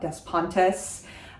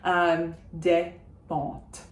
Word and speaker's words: Despentes: And Despentes, I do say the T at the end because it's followed by an E, but I don't pronounce any of the S's. It's not Despentes, Despentes. Constance Debré, Constance Debré.